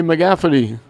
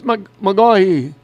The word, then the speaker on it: McGaughey: I was coming up and I said, hey, McGafferty, McCarity. She said, it's McGaughey.